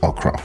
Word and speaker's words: okro: okra by the way the Nigerian pronunciation is okra now we're going to